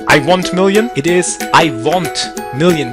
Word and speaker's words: IWONTMILLION: want million it is I want million with an O pronounce it in a European style I want million let's